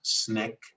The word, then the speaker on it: SNCC: july which is called sncc pronounced snick i think you mean